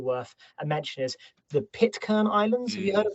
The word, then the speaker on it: Pitcairn: I think that's how you pronounce it, right? Pitcairn? Yeah, Pitcairn, I'd say, but fully endorsed as a recommended rabbit hole.